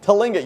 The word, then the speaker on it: Tlingit: That glass, how do you pronounce it? Tlingit. Tlingit.